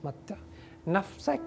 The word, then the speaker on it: متع نفسك: is the expression okay and pronunciation متع always say this متع نفسك not نفسك نفسك okay and again متعي نفسك